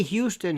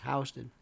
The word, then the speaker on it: Houston: no ink people always love to they they pronounce certain things certainly certain ways never say Houston here as you know in New York is Houston and uh enough in Florida it's not Lafayette